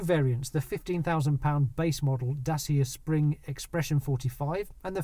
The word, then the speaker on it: Dacia: It's actually pronounced Dacia.